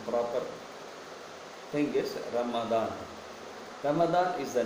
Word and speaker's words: Ramadan: called as Ramadan, and in English we call it Ramadan, but in Hindi and in other version we call it as Ramzan.